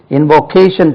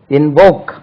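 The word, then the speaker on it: invoke: கேள் கடவுளிடமோ யார்கிட்ட இன்வோக் invocation சொல்லுவோம் இன்வோக் ஐ என் வி கே இன்வோக் stress lies on the second இன்வோக் இல்ல இன்வோக் இன்வோக்ட்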